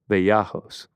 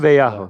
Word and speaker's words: Vallejos: Every time I say his last name, I pronounce it wrong. Vallejos. Vallejos. Vallejos.